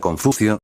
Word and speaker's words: Confucio: y se pronuncia Confucio, mocoso.